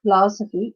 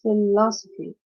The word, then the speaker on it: philosophy: again three loss right it's a four syllable word and the stress is on the second syllable of the four syllabic words like uh intelligence particular cactus shopping and philosophy okay not it's not philosophy it's philosophy right for now again we